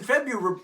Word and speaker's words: February: actually immoral yep there are 28 days in February February now it's just like somebody spelled the name wrong on February's birth certificate and we've just